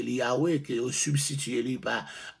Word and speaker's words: Yahweh: On connaît ce nom imprononçable de Dieu, c'est YHWH, qui encore nous prononcer Yahweh, qui est substitué lui par Adonai, mais parfois utiliser chaque lettre ça yo pour capable encore faire et encore système encore.